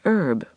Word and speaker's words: herb: Don't pronounce the H.